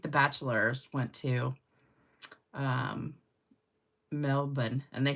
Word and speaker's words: Melbourne: always thought it was Melbourne Australia and then I think the bachelor went to um Melbourne and they said it's Melbourne you don't say the r and I was like